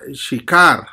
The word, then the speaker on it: Sicar: Bueno, según el original, como fue escrito el Evangelio, Sicar viene del origen hebreo, y en hebreo se pronuncia Shikar, que significa intensamente intoxicante.